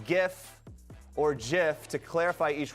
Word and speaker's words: GIF: GIF, animated looping images, hard G pronunciation.